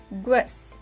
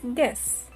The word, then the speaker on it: guess: It is not guess. We are not going to pronounce U here, so it is guess.